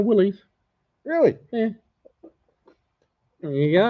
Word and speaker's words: Willys: I bet you he pronounces it funny. No, Willys.